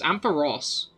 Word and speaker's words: Ampharos: um by the way the official pronunciation for Ambrose is ampaross whoever is confusing because